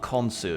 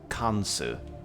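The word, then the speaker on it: Khonsu: okay kansu all right it's not konsu it's kansu kansu has been searching for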